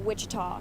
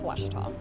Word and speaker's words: Ouachita: university back in texas everybody pronounces it wichita but really it's ouachita washington washington how would